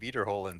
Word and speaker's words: Wiederholen: little thing was I Wiederholen Sie. I'm sure. I mean, obviously. I mean, which was basically EI is pronounced as I and IE is pronounced as E and Wiederholen Sie is repeat after me, There basically.